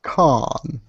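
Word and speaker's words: Cannes: this past or con it's pronounced con just I believe just last season it aired out there as you have somewhat of accent it doesn't matter how you pronounce it it just sounds I'll say that kind accent I'll call it can there you go s can but with two end and an enss yeah something like that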